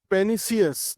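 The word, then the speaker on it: pernicious: इसमें आर जो है वह साइलेंट रहता है। तो इसका सही प्रोनाउंस क्या होता है? पेनी पेनिसियस ठीक आर इसमें साइलेंट रहेगा।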